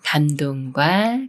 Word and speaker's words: 감동: 길이라고 읽어요 밤길이 말은 감동과 감동 중에 어떻게 읽어 할까요 미음 받침이 초성 디귿을 만났지만 쌍디귿 소리가 아닌 초성 디귿을 소리 그대로 감동이라고 읽어요 감동이 한말은 긴